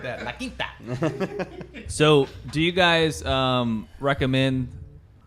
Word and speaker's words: La Quinta: La Quinta.